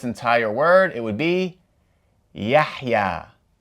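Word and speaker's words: يحيى: So, if we pronounce this entire word, it would be Yahya. Yahya.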